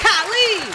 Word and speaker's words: Khalid: Khalid.